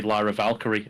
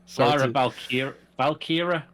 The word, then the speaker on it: Lyra Valkyria: I want to say Lyra Valkyrie, and it's not. I know it's not that, but it should be. Because that sounds so much better. Sorry. Lyra Valkyria. Lyra Valkyria, which whatever.